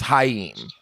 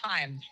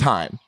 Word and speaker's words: Haim: Okay, he just pronounced your last name as Haim. And I said, that's insane. But is that actually the proper pronunciation? No, it's Haim. It's just Haim. oh damn. But in Hebrew, how would you pronounce it? Okay, in Hebrew it's Chaim.